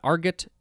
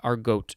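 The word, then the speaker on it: argot: alan tate uh yeah arget is the first pronunciation uh but it does look like our goat is another one next we have arguable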